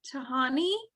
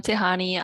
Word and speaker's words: Tihani: Tahani? Or did I pronounce that wrong? No, that's correct. Hi, I'm Tihani.